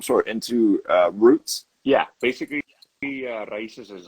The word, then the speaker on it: Raíces: Is it Rices? Raíces. Rices. Okay. All right. I wanted to Raíces. make sure I wasn't completely fucking that up.